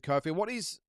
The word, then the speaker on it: Kofi: really well spoken, Ted Kofi. It is Kofi, isn't it? I think it's not coffee. It's Ted Kofi. I think that's the proper way to pronounce it. But I think one is that he's obviously well credentialed.